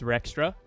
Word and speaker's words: Rextra: My name is Rextra. That's how you pronounce my YouTube channel.